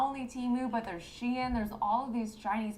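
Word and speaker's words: Shein: only teu but there's Shen there's all of these Chinese popups that are unfortunately doing what Etsy does was but cheaper is that how you say it sheen sheen yes ah okay yeah the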